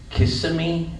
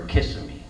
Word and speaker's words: Kissimmee: and that area is known as Kissimmee or Kissimmee. Kissimmee. Well, anyway, Joyce and I were arguing about the pronunciation of that place. We were arguing for about a half an hour. She says it's called Kissimmee, and I said no, it's Kissimmee.